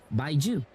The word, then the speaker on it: Baiju: That's why we have Baiju. I'm going to pronounce it that way because the game pronounces it that way.